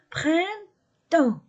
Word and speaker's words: printemps: fémin singulier le printemps printemps je ne prononce pas la lettre P et la lettre S le printemps l'été l'été